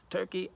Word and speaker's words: Turki: thinking about my man's name who rhymes with the USA turkey turkey alishe right guy who's